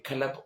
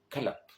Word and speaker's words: kalap: Vous voyez un petit peu la distance entre club en anglais et kalap en yai. Les gens ont quand même essayé de rester fidèles à la prononciation club, mais comme ils ont du mal à prononcer club, ils ont dit kalap.